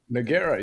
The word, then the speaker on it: Nogueira: That's how you pronounce it, right? Nora. Noera.